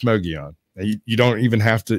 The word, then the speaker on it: Mogollon: Well, it's the Mogollon Monster. Well, it's Mogion.